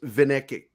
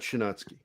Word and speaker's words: Vinecki: Because it's pronounced Vinecki, not Shinansky.